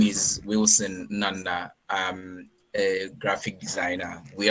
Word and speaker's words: Nnanna: Okay, so pronounce it properly so that I can, yeah. It's Nnanna. Oh, Nnanna.